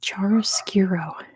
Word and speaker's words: chiaroscuro: It's chiaroscuro. Close enough. DR spelled it right. That might be how you say it in Romania, but it's chiaroscuro.